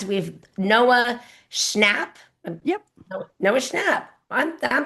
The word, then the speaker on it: Schnapp: Noah Schnapp. I'm pronouncing it Schnapp.